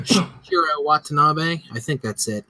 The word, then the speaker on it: Shinichiro Watanabe: say his name wrong, Shinichiro Watanabe. I think that's it. It's got that extra I in it, and I always screw it up. Shinichiro Watanabe, the guy who did